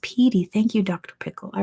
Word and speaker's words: Pedy: It's pronounced Petey.